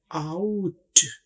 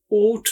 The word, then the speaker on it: out: इसको ओट नहीं बोलेंगे, ओट गलत हो जाएगा।